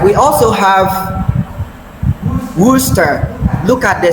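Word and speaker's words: Worcester: We also have worooster. Look at the spelling and the pronunciation as in worooster sauce.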